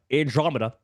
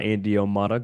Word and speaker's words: Andromeda: and by the way it is uh Andromeda not andom just a mispronunciation on my part so apologies for that